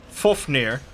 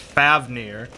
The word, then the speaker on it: Fafnir: the dragon which I thought was always pronounced Fafnir but then Jackson Crawford pronounces it as full fear so that's what I went with I know